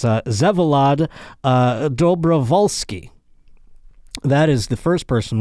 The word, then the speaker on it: Vsevolod Dobrovolskyi: And you know, it's I'm going to find out when we have him on, but I believe to pronounce this gentleman's name, it's Vsevolod Dobrovolskyi.